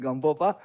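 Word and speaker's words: Gampopa: And then he is emanation of Gamboba, okay, or Gamboba, according to my pronunciation, Gamboba.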